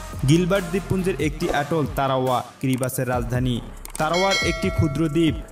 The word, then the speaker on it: Kiribati: সালে এই উপনিবেশ স্বাধীন ক্রিবাস প্রজাতন্ত্র হিসেবে আত্মপ্রকাশ করে ক্রিবাস নামের উৎস হচ্ছে ইংরেজি গিলবার্টস নামের স্থানীয় উচ্চারণ যদিও দেশের নামের বানান ক্রিবাতি গিলবার্ট ও ইংরেজি ভাষায় এর সঠিক উচ্চারণ ক্রিবাতি বা ক্রিবাটি নয়